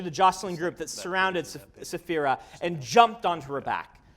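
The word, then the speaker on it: Saphira: names and ancient magical words come anyone yeah safira how do you say C uh Shan Chan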